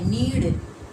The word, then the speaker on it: नीड़: क्योंकि हम यहाँ अगर हम बोलेंगे कि पक्षी नीड़ में रहता है, नीड़, मेरा उच्चारण होने होगा नीड़, तब यहाँ पर लिखा जाएगा नीड़, और इसका अर्थ भी सही होगा।